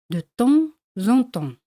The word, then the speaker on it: de temps en temps: De vez en cuando en francés se dice de temps en temps. Y se hace la liaison entre temps y en. Se pronuncia así, de temps en temps.